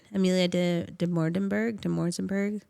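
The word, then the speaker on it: Amelia Dimoldenberg: Amelia de Morzenberg.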